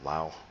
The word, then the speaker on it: Liao: Some people pronounce this as Lao. I like Liao.